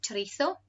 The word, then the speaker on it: chorizo: And you might have heard of chorizo. Most people here want to pronounce it chorizo, which can be spicy or not.